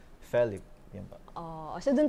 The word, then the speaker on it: Felip: Pero siguro po, kasi kung paano binibigkas ng parents ko yung name ko, it's FELIP.